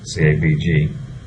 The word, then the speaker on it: CABG: Coronary artery bypass graft surgery, or CABG, CABG, as it's commonly pronounced, is typically recommended when there's a disease